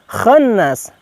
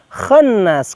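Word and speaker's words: خناس: Kita paksakan juga di huruf kha. Huruf kha ini berbeda dengan huruf gha yang kesan kasarnya ketika dilafalkan itu terkesan kasar kalau huruf kha. Nah, di tenggorokan kita terasa sekali berbeda dengan huruf gha. Gha dia lebih lembut, dia lebih halus ya dibandingkan huruf kha.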